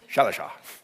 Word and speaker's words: Shalisha: See, that's how you do it phonetically. Shalisha.